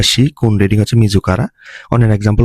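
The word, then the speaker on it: 色: এটা অনের উচ্চারণ হচ্ছে শোকু বা শিকি, আর কুনের উচ্চারণ হচ্ছে ইরো।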